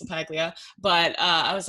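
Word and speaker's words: LaPaglia: It, like everyone says LaPiglia. I'm like, it's actually pretty easy. It's LaPiglia.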